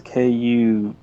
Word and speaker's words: Kuei: It's a I think it's Kuei. I'm not gonna pronounce him Kawhi, I've as been in saying Kawhi Leonard. Kuai or Kuei. It depends on if you're in that Mai or Mei camp.